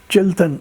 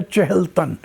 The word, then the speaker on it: چہلتن: کوئی 11,000 فٹ اونچا، چلتن، اصل میں تلفظ ہے چہلتن، 40 بدن، تو وہ چلتن بھی